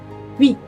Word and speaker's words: huit: A pronúncia dele, lembra do som do U, boquinha de U, para falar I. Formatinho de U para falar I. U, oui. E vocês vão dizer oui, huit, huit.